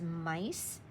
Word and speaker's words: mice: This only has 3 sounds. I, that's a long vowel I, s. So when I hear s, and I know there's a long vowel I, this would be mick if it was just this syllable. So I know I have to put this E on the same spot with the C because I don't hear him. He's not an extra sound.